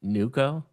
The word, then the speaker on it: Neuko: a is it so I don't want to mispronounce this, but NuCo? Yeah, NuCo, like new Okay.